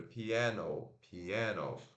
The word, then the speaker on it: piano: Então são três sílabas.